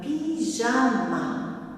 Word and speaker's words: pyjama: Nous avons un pyjama. Un pyjama. Ici, le Y se lit comme un I normal. Pi, première syllabe pi, deuxième ja, troisième ma.